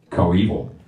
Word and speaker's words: coeval: Coeval.